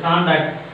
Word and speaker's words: conduct: The same word functions as a verb, so that you can write vertical bar on the second syllable. Here also conduct, first letter. The same word worked as a verb, so that second syllable.